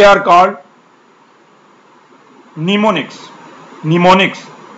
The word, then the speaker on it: mnemonics: निमोनिक्स इसमें एम जो silent है और इसको आप प्रोनाउंस करेंगे निमोनिक्स।